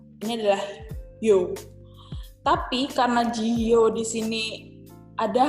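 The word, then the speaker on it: 지효: Jadi yo di sini kita hapus pelengkapnya, pakai yo asli, kita pindahkan di bawahnya si huruf H tadi. Jihyo. Gitu. Ini bacanya adalah Jihyo.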